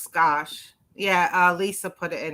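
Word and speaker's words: Gosch: name again the last name g-o-s-c-h and it's pronounced scotch yeah uh lisa put it in her in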